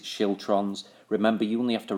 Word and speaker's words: schiltron: It's pronounced skiltrons, apparently. I'm going to pronounce it schiltrons.